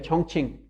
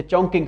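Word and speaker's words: Chongqing: कुछ कहते हैं हमें चोंगकिंग जो यूनिवर्सिटी है चोंगचिंग, ठीक है, अब हम जिसे चोंगकिंग हम प्रोनाउंस करते हैं, वो आज से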